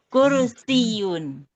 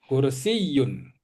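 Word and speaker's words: كرسيّ: Kursi kursiun yanya itu tasdid. Ehsiun hza kursiyun. Kursiyun. Kursiyun. Kursiyun. Nah gitu ya. Jadi kalau tasdid itu doel ya berarti.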